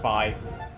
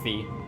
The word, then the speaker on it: Fi: Technically it's pronounced Fi. At least that's what like most people say. I've never heard someone pronounce it like Fee.